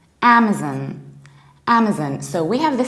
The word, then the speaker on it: Amazon: Amazon with our Amazon so please remember we don't put stress on the second level but actually on the very first of all Amazon and what might be